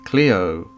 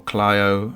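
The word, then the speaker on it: Clio: did find that um cleo or clyo as it's sometimes pronounced the muse of history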